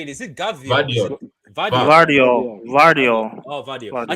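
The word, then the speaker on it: Gvardiol: Vardio. Vardio. Oh, Vadio. Vardio. I keep saying Givadio. I keep saying The G Givadio. silent, Guardiola.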